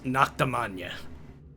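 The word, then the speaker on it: Noctemagne: You are import Noctum ruled by Prince Regent Aimus and his noble house Noctam spelled like Charlemagne but with Naka instead of Charl.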